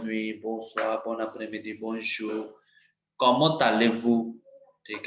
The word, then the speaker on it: comment allez-vous: Comment allez-vous? ठीक है, it's also easy. Comment allez-vous? Okay, so we have to merge T with this. Comment allez, ले, Z नहीं pronounce कर रहे.